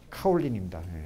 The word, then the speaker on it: 카올린: 근데 고령을 이제 그 중국식 발음으로 하면 카올린입니다.